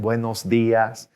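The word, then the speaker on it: buenos días: morning buenos buenos dias notice that accent on the eyes so that's where we're gonna kind of stress a little bit the ass push your tongue forward a little bit buenos dias okay and just an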